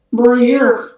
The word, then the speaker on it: bonjour: Bonjour. Nah, itu bacanya bonjour.